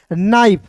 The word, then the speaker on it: knife: तो यहाँ देखिए KNIFE, तो NIFE का देखिए IFE है तो इसका उच्चारण आइफ के रूप में करेंगे। तो देखिए एन का नौ, IFE है तो इसका उच्चारण आइफ के रूप में, KNIFE को पढ़ेंगे नाइफ।